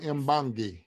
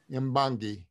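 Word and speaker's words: Mbongi: The Catalyst Mbangi. Mbangi? Mbangi. Spell it for me, please.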